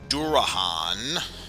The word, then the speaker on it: Durahan: My main concern are the Dullahans, or excuse me, I should pronounce it by their proper name, Durahan.